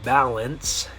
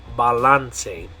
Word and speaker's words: balance: So this word in English you would say balance, but the way you're going to pronounce it in Spanish is balance.